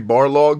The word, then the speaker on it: Barlog: and ryan uh corey barlog believe it or not his name is spelled like uh almost like the dude in a street fighter ball rog except it's bar log b-a-r-l-o-g you made it